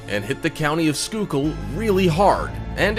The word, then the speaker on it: Schuylkill: Around August 2015 on Route 61 near Schuylkill Haven in Pennsylvania, and believe it or not, that is pronounced Schuylkill, a worker was trying to dig up some dirt but dug up something else instead.